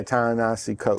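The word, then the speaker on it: Ta-Nehisi Coates: to mess it up it's t tanahashi yeah tanasi coat tahashi coat yeah his book you put what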